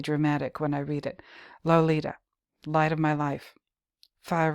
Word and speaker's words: Lolita: my sin my soul lo li ta he syllableizes here the tip of the tongue taking a trip of three steps down the palate to tap at three on the teeth low period Li period